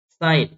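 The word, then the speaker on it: sign: condition समझ में आई कि अगर जी के बाद एन आ रहा है या एन के पहले जी आ रहा है तो जी का प्रंस नहीं होगा जैसे अलाइन साइन foreign campaign डिजाइन consignment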